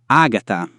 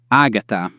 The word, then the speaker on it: Agata: But again, be careful. This is not always the case. Elena, Elena, Helen, Agata, Agata, Agatha, Chesare, Chesare, Caesar.